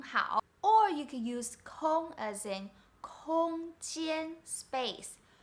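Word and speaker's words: 空: character is ko so it's basically the same pronunciation but different tone kong here means available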